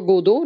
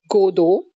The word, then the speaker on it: Godot: Today we'll discuss Waiting for Godot, written by Samuel Beckett. And what is Waiting for Godot? First of all, it's important that its pronunciation is Godot. It's not Godot, it's Godot, G-O-D-O-T, Godot, Waiting for Godot.